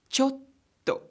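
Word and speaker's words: ちょっと: oh because of the two case and is pronounced as gah goo gah cool similarly the world for a little is chotto chotto so if we want to say wait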